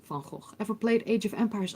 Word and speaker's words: Funko: said that one uh when i tell people how fancy is pronounced they don't believe me no people think that it's the van that goes but it's van gogh it's not about van gogh it's funko ever played age of